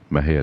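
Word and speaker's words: Mexia: to m j audio theater 923 east main mahaya texas maha is spelled m-e-x-i-a the zip is 7-6-6-6-7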